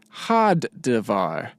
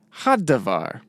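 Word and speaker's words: הַדָּבָר: Also, because of the doubling dagesh here, we need to make sure that we pronounce the front letter twice. So it's had-davar, had-davar, and ham-melech, ham-melech.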